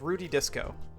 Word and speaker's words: Rudy Disco: That's how he pronounced it. I forgot. It's Rudy Disco.